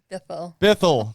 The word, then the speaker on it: Bithell: because i'm terrible with names how do i pronounce the last name bethel thank you see this just goes to show